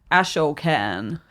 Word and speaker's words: Ashokan: Um and I don't know if this was the same res- reservoir, the Ashokan, and I've might have mispronounced that. Ashokan.